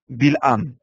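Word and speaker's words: בלעם: Celui qui aurait prononcé cela dans le livre des Nombres. Balaam. Oui. Bilham.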